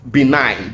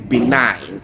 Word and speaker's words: benign: Went with letters that are not pronounced. Benign.